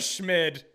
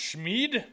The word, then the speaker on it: Schmid: Just for fun, we're drafting our backup goalender right now, Akira Schmid. I don't even know what to say anymore. I think it might actually be pronounced Schmeid. But anyway, spin that wheel.